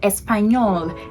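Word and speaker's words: español: whenever you see it you don't pronounce it like like an n but any so espanol nino nina and all that so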